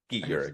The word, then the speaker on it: Skeet Ulrich: I always forget how you pronounce it. Skeet Urich. Skeet Ulrich.